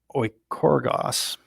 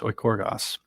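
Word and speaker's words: οἰκουργός: working at home, uh, that word is or oikorgos, I believe is how it's pronounced, oikorgos.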